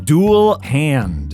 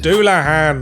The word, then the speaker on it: Dullahan: ones I can pronounce an hair jar it's pronounced Anar say tires it's satas okay I think I got this one duel hand duah hand it's a Headless Horseman from Irish folklore you